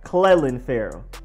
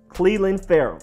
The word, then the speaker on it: Cleveland Ferrell: edge rusher Cleveland Ferrell Cleveland like Cleveland as in Atlanta if you pronounce it with the Atlanta accent it is not Cleland Farrow it's Cleveland Cleveland Ferrell now defensive end rashon